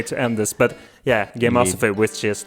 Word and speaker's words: Gameosophy: No, not Gameology. Gameosophy. Gameosophy. Yeah, that's how it's pronounced.